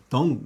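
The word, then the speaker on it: dung: 덩. 덩 하게 되면 약간 우리나라의 그 똥과 비슷한 그런 그, 좀 발음이 비슷한데요. 덩.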